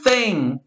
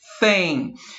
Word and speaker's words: thing: Eu brinco com os meus alunos para a pronúncia, uma forma de ficar mais parecida é você falar a palavra, o número 100, sabe? O número 100, 100. Agora fala 100 assim, ó. Thing. É o mais parecido que você vai conseguir